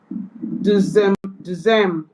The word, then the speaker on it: deuxième: Like E in the English word sets. Example. Tres. Good. Deuxième.